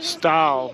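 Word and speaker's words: Stawell: You call it, isn't it Stall? Stall, that's right, Stall.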